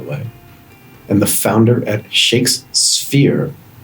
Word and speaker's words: ShakeSphere: and the founder at shakes sphere which is just made hard for me to pronounce i almost said shakespeare but i guess that's on purpose dave how are you